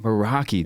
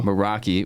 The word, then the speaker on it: Meraki: Meraki. Dang, but dude. it gets pronounced every way you could imagine. So Meraki, which is one of the top producing teams in the company.